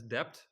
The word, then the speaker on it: DEPT: of course like uh you can pronounce it as depth so it's it's easy